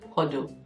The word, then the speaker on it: HODL: The first one we're going to talk about is what we call the HODL, and it's pronounced as HODL.